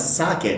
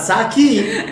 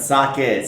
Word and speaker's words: sake: to japan before and she knows how to pronounce saket not saki but socket so good job on